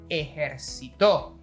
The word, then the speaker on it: ejercitó: Ejercitó. We have three: Army, Work out and Worked out. That's right, by just changing the accented syllable we even have 3 different meanings.